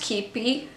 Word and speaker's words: Qeepy: I think I remember mentioning it to someone, but anyway, it's pronounced Keepy. I know a lot of people pronounce it wrong.